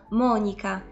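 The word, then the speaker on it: Monica: i włoskim brzmią identycznie ale różni je właśnie ten Akcent i my mówimy Monika a po włosku będzie to Monika Monika Bellucci albo Weronika to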